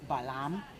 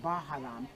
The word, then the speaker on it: balam: means the great Jaguar balam is the way my name should be pronounced in my but we say balam because it's in Spanish but in Maya should be baham which means Jaga the